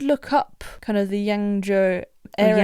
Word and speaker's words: Yangzhou: Yes, and I did look up kind of the Yangzhou area. Yangzhou, that's it. Yeah, I think that's how you say it. I'm sorry if that's not correct. No, you're right, that's what they say.